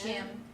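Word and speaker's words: שם: It's Shem.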